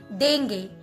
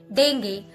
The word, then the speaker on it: dengue: But whenever it comes in English, in British and in Indian pronunciation, call it dengue. But when it comes in American pronunciation, people call it dengue, dengue. All right. So none of them are incorrect, all are correct.